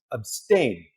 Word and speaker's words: abstain: it you for uh abstain stress on the second syllable to choose not to